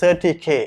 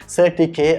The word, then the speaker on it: CertiK: ஸோ இதோட உண்மையான பேர் வந்துக்கு CertiK. அவங்களுக்கு ஒஃபிஷியலாக CertiKக்கு ஒஃபிஷியலாக ஒரு யூடியூப் சேனல் இருக்குது, அதில் கூட நீங்கள் போயிட்டு செக் பண்ணி பார்க்கலாம். அங்கே கூட அவங்க அதை ப்ரொனவுன்ஸ் பண்ணுவாங்க CertiK அப்படின்னு சொல்லி.